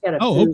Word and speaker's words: pho: Yeah, we got a food restaurant down here. It's traditionally pronounced foo instead of fa.